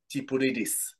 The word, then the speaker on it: Tsipouridis: So they probably would like to start by finding out who is Tipouridis. So hopefully I Oh, pronounced it wow.